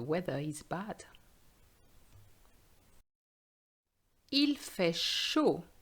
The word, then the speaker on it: chaud: Il fait chaud. Be careful, the D is silent.